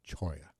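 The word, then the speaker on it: cholla: Dan is correct me I've called it a cola Cactus it's a choya cactus CH Cactus it's spelled c h o l l a uh actually it's Cho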